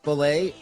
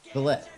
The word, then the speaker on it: filet: dropping the double fish filet, literally 2 fish patties in one steamed bun, starting July 1st. To settle pronunciation debates, they've revived filet of fish. To confirm it is filet and not fillet.